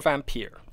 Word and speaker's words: Vampyr: Now, do you pronounce that Vampyr or Vampyr? Vampyr. You just go for the straight Vampyr. It's not pure, it's pyre.